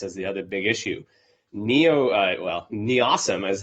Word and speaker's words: NEOSM: NEOSM is how you say it, the Near-Earth Object Surveillance Mission.